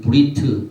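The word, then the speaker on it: ברית: 이 영어는 가버린트 히브리 말로는 언약인데 히브리 단어의이 브리트 이것이 뜻이다 이렇게 발음을 하는데이 뜻이 어떻게 되냐면 집에 사람이 아들입니다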